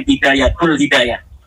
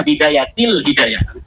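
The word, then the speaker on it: بداية الهداية: Kenapa ada huruf jar B katanya dibacanya bidayatul hidayah harusnya bidayatil hidayah.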